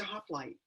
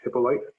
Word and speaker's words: Hippolyte: in oakland california um my last name is pronounced hippolyte i apologize mr hippolyte mangled quite frequently um so let me